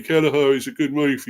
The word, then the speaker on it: Kelleher: His name is pronounced Queven. Oh, Queven. It's actually Irish for Kevin. Oh, right, yeah. So, Queven Kelleher.